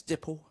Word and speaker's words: Dipple: said hi my name's Dipple and she looked at me and said nipple I said no no it's like nipple but it's spelled with a d and she went oh